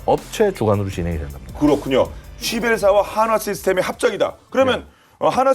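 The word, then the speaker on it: Schiebel: 오스트리아, 자, 아까 발음 주의하셔야 되겠죠? 쉬벨사입니다. 쉬벨. 쉬벨사의 캠콥터 S300을 바탕으로 한화 시스템이 합작해서 개발하는 무인기가 되겠습니다.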